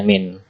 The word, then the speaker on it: mean: Tulisannya gitu, mean, dibacanya min atau rataan.